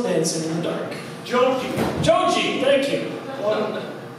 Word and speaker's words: Joji: uh this is a song by uh Jai Joe actually I pronounce his name so it's called slow dancing in the dark junkie joji thank you my life YouTube waiting for